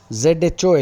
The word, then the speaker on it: zho: DZHO, zo, ZHO, H is silent.Dzo, zo, za, zo, and plural is as.